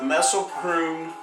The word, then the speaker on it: Mespelbrunn: Hello, I'm the Gypsy and you're not, and this is Anatomy of a Painting, part 2 of the Mespelbrunn. Did I pronounce that right?